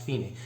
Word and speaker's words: Fine: then finishes at the finae which is at the end of the second line there where you see the word fine it's actually pronounced feeney that means that's the